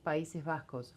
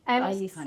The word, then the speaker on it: País Vasco: From the How do you say País Vasco? From the Basque country. Countries. País Vasco.